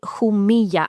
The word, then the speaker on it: Jumilla: So everybody buy Jumilla and when we say Jumilla this is spelt Jumilla with two double L's if you're